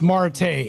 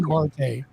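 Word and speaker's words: Martae: Marte. Perfect. Cheers. I just wanted The reason why I have it spelled like that is so that way people can say my name correctly.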